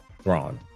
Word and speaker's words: Thrawn: Is it Thrawn? There you go. Oh, okay. Yeah. Roll your R though.